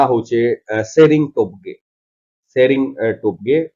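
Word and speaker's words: Tshering: आउ ताकर ना होचे शेरिंग टोपगे, शेरिंग टोपगे, टी शेरिंग है बट टी सीरीज ने सेटा शेरिंग टोपगे बोली करी हमें प्रोनाउंस करमा काहे जे टी तो उई हो हे करी रहि जाय।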